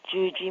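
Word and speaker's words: Yuyi: Hello, my name is Yuji Morales. First name is spelled Y-U-Y-I. Confusing, isn't it? It is all because of Spanish. In Mexico, where I was born, the letter Y is pronounced as a J.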